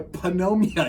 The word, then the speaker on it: pneumonia: You also don't pronounce pneumonia pneumonia, even though it's got a P at the front of it.